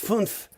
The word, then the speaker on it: fünf: Fünf.